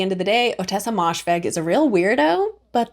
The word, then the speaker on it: Moshfegh: But also in that video, I wanted to say I pronounce her name Ottessa Moshfegh when her name is Ottessa Moshfegh, so I apologize for mispronouncing her name in that video.